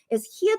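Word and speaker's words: 히읗: So this is the one Korean alphabet is hyut, but then it's pronounced like an H sound.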